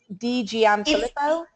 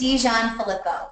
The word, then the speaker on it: DiGianfilippo: DiGianfilippo? It's DiGianfilippo. Close. That's so much easier. Dijon like the mustard, right?